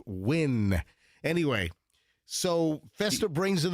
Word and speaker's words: Nguyen: I used to think it was pronounced Nguyen, but Martin Giles was the one that told me that no, it's pronounced Win.